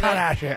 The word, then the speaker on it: Kardashian: Put the right pronunciation on Kardashian.